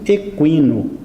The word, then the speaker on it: equino: em cima do U mas nós temos que continuar falando Equino pronunciando o u de uma maneira forte Equino é referente a